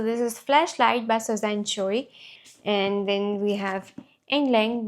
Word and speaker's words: Choi: Okay, so this is Flashlight by Suzanne Choy and then we have Endgame by Maria Diva.